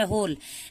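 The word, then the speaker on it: whole: लोग उच्चारण कर रहे होल लेकिन डब्लू यहां पर साइलेंट है तो हम एच ओ एल ई को ही उच्चारण होली य पर होल नहीं पढ़ते हैं ठीक है तो होल पढ़ते हैं होल मतलब पूरे दिन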